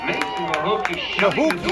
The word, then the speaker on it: Mahuki: Mason Mahuki is how it's pronounced.